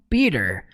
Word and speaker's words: Peter: Por mais que nós pronunciemos no português Peter, no inglês eles falam Peter. E o nome dele, Otto, que é Otto Octavius, o nome dele, é pronunciado em inglês Otto. Otto. Então é tudo com R, gente.